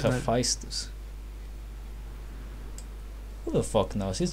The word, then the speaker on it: Hephaestus: I think it's pronounced Hephaestus.